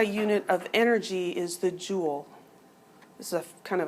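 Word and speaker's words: joule: a j um and it's a French word it's pronounced Jewel like just like you would have a jewel on a crown or something um and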